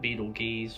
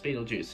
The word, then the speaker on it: Betelgeuse: also the mentioned through you can pronounce it beetle gears or beatlejuice beatlejuice is usually how everyone says it though now the next